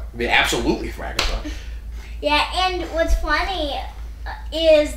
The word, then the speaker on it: Thrakkerzog: And I was thinking, and we were talking about Barry and stuff, and I went, wait, no, it'd be Thrakkerzog. It'd be absolutely Thrakkerzog.